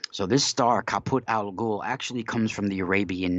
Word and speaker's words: Algol: And there's a star that's called Kaput Al Ghul, right? Now, this star is the name Al Ghul. It's spelled Algol. Kaput is Caput, and Al Ghul is Algol.